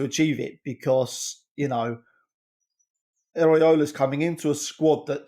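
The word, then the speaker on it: Iraola: going to putcher his name how do you pronounce his name correctly andon Iola Iola right yeah yeah yeah I thought it was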